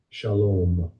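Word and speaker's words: שלום: Shalom. Shalom. Shalom. Shalom. It's spelled S-A-L-O-M, but in the Hebrew, it is pronounced shalom.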